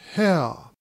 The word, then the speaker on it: Haigha: His name is Hare." He pronounced it so as to rhyme with mayor.